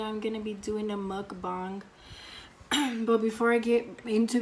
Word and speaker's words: mukbang: another video today I'm gonna be doing a mukbang but before I get into the video since everybody's never knows how to pronounce it they don't know if it's mud Bank or mud bath this is how you pronounce the K according